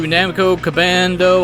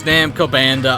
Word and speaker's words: Namco Bandai: Alright, time to head to Namco Cabando Island. Yes, I keep saying the name wrong on purpose. I know it's Namco Banda Island.